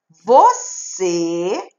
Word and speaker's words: você: Última sílaba é a sílaba tônica, porque eu pronuncio ela com mais força, não é? Você, ela é a mais forte.